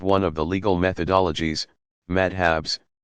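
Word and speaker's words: madhhab: Students in a madrasa, pronounced madrasa, pursue a curriculum built around the teaching of one of the legal methodologies, madhabs, pronounced madhab, and eventually receive credentials, a kind of license, as professional religious scholars.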